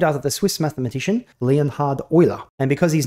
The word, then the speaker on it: Euler: person they're named after the swiss mathematician leonhard oiler and because his name is pronounced euler you pronounce these rotations in the same way